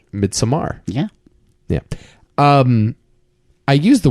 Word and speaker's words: Midsommar: You could pronounce it Midsummer, but if you that would be if you're a normal person. That's true. Yeah. What's your word? A plebeian? If you're a plebeian, you say Midsummer. Yeah, and if you're a sick sociopath, you would pronounce it Midsommer.